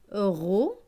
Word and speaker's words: rognon: GN, GN c'est gne. Avec ON, ON c'est on. Donc gne et on, nion. Donc ce mot va se lire rognon.